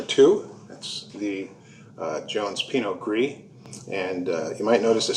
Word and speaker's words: gris: that's the jones pinot gris and you might notice the spelling is gris the wine originated in france the great origin of france and they don't pronounce the s so it's gree and gree means gray